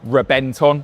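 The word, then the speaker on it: Reventón: And that story starts here in 2007 with the Reventon, or Rebenton, if we're doing proper pronunciation.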